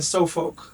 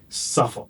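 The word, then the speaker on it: Suffolk: Growing up in New Jersey and Sofkolk, did I pronounce that correctly? Suffukk.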